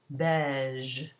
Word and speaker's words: beige: As for a G, if it's followed by E or I, it's pronounced zh, as though it were ZH in English. For example, beige.